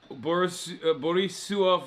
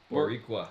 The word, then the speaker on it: Boricua: Borisua for life. Am I saying it wrong? Oh, how do you say it? Boricua. Boricua for life.